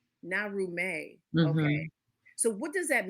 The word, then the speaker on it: Naarumey: You gave us this title, and I want to make sure that I'm pronouncing it the correct way. It's Naarumey.